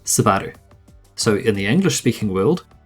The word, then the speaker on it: Subaru: emphasize the U, hence Subaru. But in the Japanese language, the U sound isn't as prominent. In fact, at the end of a word, it's practically silent. In Japanese, it's pronounced Subaru.